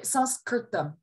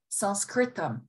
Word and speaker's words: Sanskrit: so when you say sanskrit sanskrit sanskrit the same thing not with a nasalization but with an n all of these are